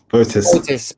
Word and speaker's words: Botis: How do we pronounce it? The second one. That's good. Botis.